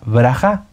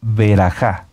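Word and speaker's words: ברכה: que empieza esta parashá en el hebreo se se pronuncia brajá brajá o beraja brajá o beraja son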